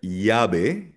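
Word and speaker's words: llave: So for example, sa Latin America, like sa Mexico, Colombia, Peru, ang double L binibigkas niya na parang Y. So for example, the word yabe, yabe, susi.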